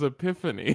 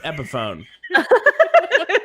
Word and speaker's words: Epiphone: I've just never heard it pronounced. I just assumed it was Epiphany. No, it's Epiphone.